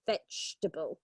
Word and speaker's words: vegetable: it's not that yeah it's the second E which is silent vegetable yes you're right Pam